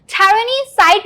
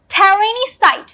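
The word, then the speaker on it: tyrannicide: टायरेनिसाइड means तानाशाह की हत्या करना। तानाशाह की हत्या करना, तो इसका मतलब ये होता है, इसके प्रोनाउंसिएशन पे ध्यान दीजिएगा, टायरेनिसाइड, टायरेनिसाइड। ये है लिबर्टी साइड।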